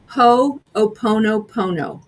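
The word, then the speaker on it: hoʻoponopono: Please, Nicole, pronounce that word for me, the Hawaiian forgiveness. Ho'oponopono.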